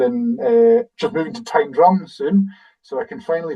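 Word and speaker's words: Tyndrum: And people say they've heard locals sing Tindrum and it's not Tindum. It is Tindrum. H that's because it comes from house of the ridge.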